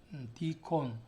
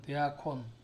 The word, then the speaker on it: deacon: 사람들을 초대교에서 대학혼이라고 불렀습니다 deacon d콘 혹은 대아콘 이렇게 발음을 하는데요 그 대아콘들은 그 당시에